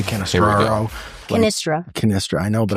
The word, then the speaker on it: Cannistra: You're Cannistraro. Yeah, it's nope. It's not. Cut It's off the completely R. Going to lead wrong. with Kool-Aid, It's not even how it's spelled phonetically. Mine? Yeah, Cannistraro is not. No, there's no. You have extra letters in there.